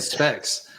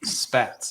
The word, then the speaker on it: spats: I think I was saying specs. I think I was saying specs. He was saying specs. Yeah. So spats.